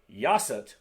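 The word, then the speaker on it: 여섯: Yasat, same thing, basically just with a Y.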